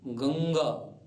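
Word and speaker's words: ङ: आप जानते रहे हैं उस अंग में से अ हटा दीजिए यही इसका उच्चारण है आओ अब पूरे क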